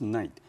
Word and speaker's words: knight: Knight, none. 名词，中古时候的骑士、武士，还有近代英国的爵士。 Sir Lancelot was a very famous knight in King Arthur's kingdom. 在亚瑟王时代，兰斯特是位很有名的骑士。Students be aware, here K, we don't pronounce it, so it pronounced just like a knight.